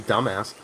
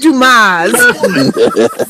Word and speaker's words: Dumas: Just because he called you dumbass. No, it was not that. It's pronounced Dumas. Dumas. Like the great writer, Alexander Dumas.